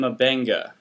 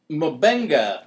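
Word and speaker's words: Mbenga: Last name Mabenga. Mabenga. But you got to click got to make a clicking noise to say it correctly.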